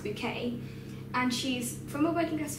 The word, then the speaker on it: Bucket: a woman called high bouquet and her name is actually spelled bucket but she insists on it being pronounced bouquet and she's from a